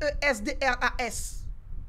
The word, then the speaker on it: Esdras: Mon nom s'écrit E-S-D-R-A-S.